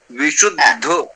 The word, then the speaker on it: विशुद्ध: साथ में, जैसे विशुद्ध विशुद्ध, तो सु पे थोड़ा सा बलाघात किया जाता है, जैसे विशुद्ध सत्व प्रधाना, सत्व प्रधाना।